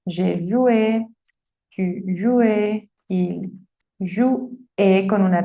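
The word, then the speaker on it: jouaient: ustedes jugaban, il, él jouait, hasta aquí, recuerda que la ENT no se pronuncia, sí se escribe, pero no la pronuncias, ellos o ellas jugaban.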